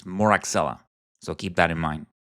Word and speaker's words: Moraxella: And in my times as a teacher, I had students pronounce it mozzarella catarrhalis, which is comical, but remember, it is Moraxella.